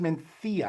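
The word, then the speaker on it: Mencía: It's pronounced Mencia.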